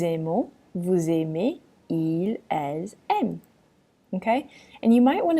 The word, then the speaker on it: aiment: vous aimez, ils, elles aiment. Okay? And you might want to take a note that the ENT in the last conjugation, ils, elles aiment, A-I-M-E-N-T, that ENT is silent.